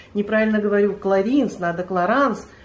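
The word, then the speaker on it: Clarins: создал эту косметику псевдонима Он создал свой псевдоним который вот так звучит кларанс Тем более что во французском языке Я так понимаю вообще пишется одно подразумевается другое а произносится третье Так что не знаю у вас в Израиле наверно неправильно говорят А как говорят говорят так как мы раньше говорили кринс знаете как Большая часть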